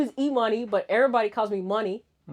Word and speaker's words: Imani: Well, my name is Eoney, but everybody calls me money.